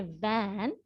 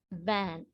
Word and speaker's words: van: So when I say van, I should bite my lip, van, but it is not van, right?